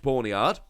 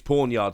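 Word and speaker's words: Pawniard: you've got free bench porn yard wait porn pornyard i've just checked the pronunciation it's pawn yard sorry about that so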